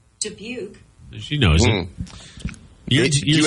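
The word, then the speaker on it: Dubuque: to be wait your GPS pronounced it deuki yeah I was passing through because we were coming like through Chicago and debuk was like the first big thing I think for a while and it said deuk and I thought that was wild maybe we've been mispronouncing it the entire time Julian deuki oh my Siri says it right here hang on debuk she knows it do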